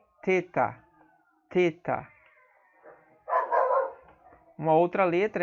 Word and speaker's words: theta: Aí você tem o theta, theta, theta tem um som de T, mas não esse T dental, como a gente fala aqui no Nordeste, né?